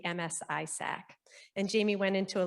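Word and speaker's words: MS-ISAC: who we are and even how to say it so it's six simple letters the msi sac and jamie went into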